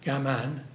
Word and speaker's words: gaman: the Japanese tradition of I get the correct pronunciation gaman g m a an which is keep it